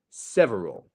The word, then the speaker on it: several: two different words so have a look at how I say this several several you see the stress syllable is the Sev I'm not going several or several that would be the difference between the stress but several imagine you're going ver and then back down again and that's a good